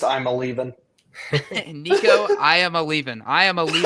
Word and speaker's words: Iamaleava: Enter Nico, and I still butcher the last name, Iamaleava. It's just I'm a leaving.